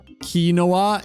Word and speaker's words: quinoa: In Dutch, we say kinoa. In English, it's how Ludy says it. See, Mo gets it. Quinoa.